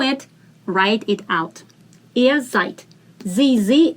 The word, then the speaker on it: seid: Ihr seid. Same thing. Die in the end is pronounced as t.